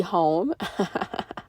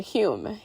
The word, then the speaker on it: Home: Home. I'm sorry, Hume. It's spelled like home, but it's pronounced Hume.